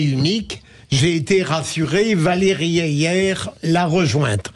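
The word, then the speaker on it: Hayer: J'ai été rassuré, Valérie Ayer l'a rejointe. On prononce Ayer, a priori.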